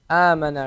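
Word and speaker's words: أمانة: Amana, right? So make sure you elongate the a.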